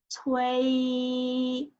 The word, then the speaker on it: 催: Okay, let's pronounce. 催 means urge.